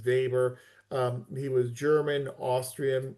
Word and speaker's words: Weber: Max Vber, I know it's it's spelled Weber, but it's pronounced Vber.